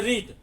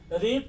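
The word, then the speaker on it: read: लेकिन जब past tense में सेकंड फॉर्म, पास्ट टेंस में जब आएगा रीड तो उसको पढ़ेंगे रेड, नॉट रीड, रेड। That is pronounced as रेड एंड in present tense it is pronounced as रीड। तो रीड और रेड में यही अंतर होता है, कहीं लोग सब जगह रीड ही पढ़ देते हैं, ये बहुत बड़ी भूल है।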